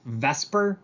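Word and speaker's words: VSEPR: electron pair repulsion um it's pronounced vesper i know that swaps the e and the s but we call it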